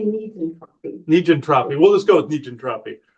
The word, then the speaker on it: negentropy: Negentropy.